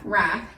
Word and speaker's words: wrath: W is silent.